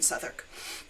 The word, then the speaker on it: Southwark: Um, but this one, I live in Southwark, which is like spelled like Southwark, but I live in Southwark, which is it's an important borough in London.